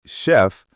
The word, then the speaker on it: chef: And in words like chef, it sounds like sh.